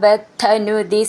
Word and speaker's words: ബദ്ധ: നീട്ടിയിട്ട് രൂപേണ ബദ്ധനുദി സിദ്ധഗണാവൃതേന ബദ്ധ എന്നുള്ളതിന്റെ ധ എന്ന് നന്നായിട്ട് ഊന്നി പറയാനുള്ളതാണ് സിദ്ധ എന്നുള്ളതിന്റെ ധ എന്നും